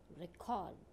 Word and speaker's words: record: These words have stress on second syllable when they are used as a verb. Now see again the pronunciation and listen it carefully. Record, conduct, contain.